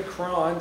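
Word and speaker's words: Croghan: get that pronunciated correctly cron just like KRON as they say so here we are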